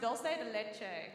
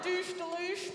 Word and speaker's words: dulce de leche: just got to tell you this it's actually pronounced dulce de leche and i was like this is rock bottom